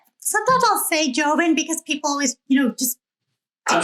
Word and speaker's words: Joven: I'll say it right. Joven, right? Yeah. And it's like Hova.